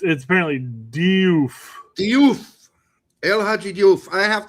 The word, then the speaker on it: Diouf: You don't hear the E for very long when the English pronounce it. They just ramble right through that. El Hadji Diouf. It's so you barely hear the probably E. Is more of a doof, yeah, right?